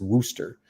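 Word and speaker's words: Worster: Ulus and rooster the the r is silent by the way in yeah so I I only knew that off the commit release that they put out it's Wooster so uh those two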